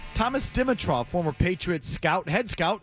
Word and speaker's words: Dimitroff: So I put the wrong accent on the wrong syllable. It's the middle one.